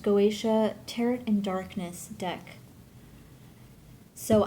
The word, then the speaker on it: Goetia: this is the goation I believe it's pronounced goatia tarot and darkness deck